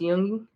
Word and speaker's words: Jung: And for anybody listening or watching or whatever, who doesn't know what shadow work is, it's basically just I think it's pronounced Jung, Carl Jung.